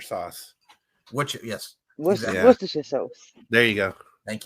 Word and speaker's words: Worcestershire: This American thing where we have to pronounce every syllable. Yes. Because, we call it Worcestershire sauce. Yes. Worcestershire sauce.